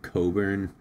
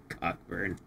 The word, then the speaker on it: Cockburn: Cochburn not pronounced how it's spelled isn't an uncommon surname. Yeah. Isn't it pronounced like Coburn or something? cockburn.